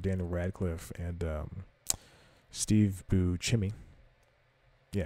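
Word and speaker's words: Buscemi: miracle workers with Daniel Radcliffe and um Steve bu chimy yeah it's pronounced bimy and a bunch of other people it's it's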